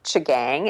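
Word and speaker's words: M'Chigeeng: is pronounced something like Chang it's actually spelled with an M okay M apostrophe b c h i GE e e n g um and the m is silent so in that area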